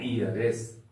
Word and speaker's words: heiress: अगर कोई फीमेल रहे, कोई बेटी रहे, भतीज रहे, वारिस, तो यहां भी होगा HEIRESS, एन ईयरएस।